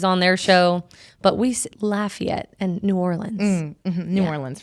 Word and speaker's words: Lafayette: It's funny because I pronounce it Lafayette because my college town in California was called Lafayette. Lafayette? Or I'm sure it's Lafayette, maybe. Everybody says it different. Lafayette for Louisiana. Some people say Lafayette, and I'm like, oh, that's a weird one.